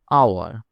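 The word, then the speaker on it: hour: আওয়ার। এখানে H silent.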